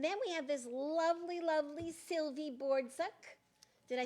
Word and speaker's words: Sylvie Bordzuk: And then we have this lovely Sylvie Bordzuk.